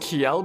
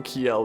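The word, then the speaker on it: Kjelle: It's supposed to be pronounced Kjel because Nordic J's make a Y sound for some reason, so Kjel then.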